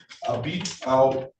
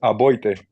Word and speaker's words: Aboite: Abito. Give me the correct pronunciation, Mr. Granado. It's Aboite. Aboite.